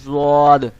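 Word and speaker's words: ض: আপনার জিহ্বার যে গোড়ার কিনারাটাকে আপনি উপরের মাড়ির দাঁতের সাথে লাগাবেন, লাগায় উচ্চারণ করবেন জদ, জদ, এরকম ভাবে।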